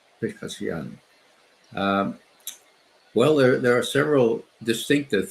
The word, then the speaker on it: Pezeshkian: President Pezeshkian, is that how he pronounces it? Pezeshkian. Pezeshkian.